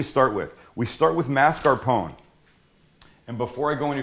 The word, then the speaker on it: mascarpone: s c a r everybody pronounces it or mispronounces it Marone it's not it's mascarpone and it's a triple